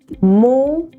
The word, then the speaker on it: modal: Okay, the correct pronunciation of this word is, let me write it here, modal. Okay, mode, right, na ki modal.